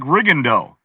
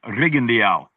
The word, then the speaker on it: Rigondeaux: The way his name is spelled, it looks like Rigondeaux, right? But I went to him and he said, my name is Guillermo Rigondeaux.